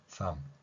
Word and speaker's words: thumb: thumb 이렇게 발음할 수 있는 것입니다.